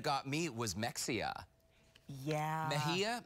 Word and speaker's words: Mexia: me was Mexia yeah Mejia Mejia Mejia but it looks like next yeah right yeah yeah